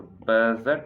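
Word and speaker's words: budget: फिर एरी, सप्लीमेंट्री, फिर बजट, तो बजट में ना D जो है वो साइलेंट है, बजट।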